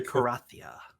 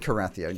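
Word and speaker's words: Cerathia: okay I'm sorry used in the fight the karathia why space c-e-r-a-t-h-i-a see all up exactly how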